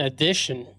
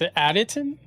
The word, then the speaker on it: Additon: Ryan Edition. Did Dave spell that? said Ryan edition, but it's Additon.